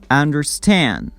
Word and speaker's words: understand: The stress is on the second word. Old-fashioned, fashioned, old-fashioned. Understand, understand. The first word is under, the second one is stand. Understand.